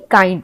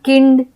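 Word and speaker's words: kind: अब बात करते हैं आई का आई के रूप में उच्चारण जैसे के आई एन डी काइंड। इसे हम किंड या किंड ऐसे हम नहीं पढ़ेंगे। हम इसे काइंड पढ़ेंगे।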